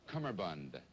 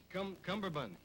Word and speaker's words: cummerbund: Would you please spell cummerbund? I don't need this, you know. I don't need to be made a fool of. Cumberbund.